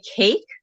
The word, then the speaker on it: CAIC: Easier to remember, you can check us out on Facebook and Twitter at NJ Cake. Cake is spelled CAIC.